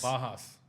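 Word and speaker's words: Pages: Is that how you say it? Pajas? Bajas. Yeah. Really?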